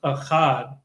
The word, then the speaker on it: Ohad: His name is pronounced Achad, which means united.